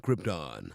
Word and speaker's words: Krypton: were too scared to tell that he was mispronouncing Krypton.